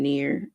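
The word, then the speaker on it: נר: So pronunciation near.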